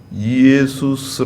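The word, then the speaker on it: Ἰησοῦς: 같은 이름입니다 구원자라는 뜻이에요 예수 원문에는 예수스 아고 돼 있어요 예수스 예 우리나라는 예수라고 발음하지아요 거의 비슷하죠 미국은 지저스라이팅 좋습니다 예수 얼마나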